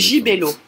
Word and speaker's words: Gibello: Gibello.